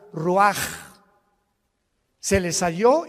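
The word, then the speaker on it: רוח: exhaló Isaac el Roach así como suena se pronuncia la c en hebreo como J ruaj se le só y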